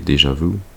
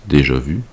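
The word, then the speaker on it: déjà vu: It's like a a premonition as well as a deja vu that is supposed to be pronounced déja vu.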